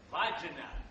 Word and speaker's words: Wagner: Wagner, come lo dice lei, si scrive W-A-G-N-E-R, ma si legge Vagina.